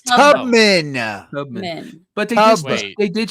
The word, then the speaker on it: Tubman: but her last name is pugman Harriet pugman Tu no it's Tubman Tubman but they they